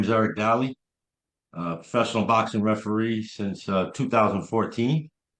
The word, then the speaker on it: Dali: So today I am sitting here with Eric, pronounced it like Dali? Dali, yes.